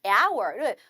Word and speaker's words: hour: 자, 여기는 hour를 철자가 자음이지만 무음이에요.